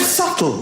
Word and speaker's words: subtle: The word subtle, would anybody object if it was spelled s u t l e? Not a single person would. But there's this k in the middle going, "Shh, just ignore me. I'm a silent k.